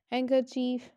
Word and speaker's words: handkerchief: Like you can see in the example silent D, we do not pronounce the letter D, Wednesday, handsome, handkerchief, badge, wedge, and silent G, sign, resign, design,